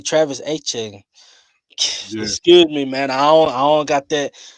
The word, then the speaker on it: Etienne: Um, I'm gonna say Travis Etienne.